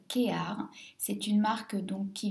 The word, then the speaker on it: KEAR: du packaging ça s'écrit kap mais ça se prononce kear c'est une marque donc qui vient de Grèce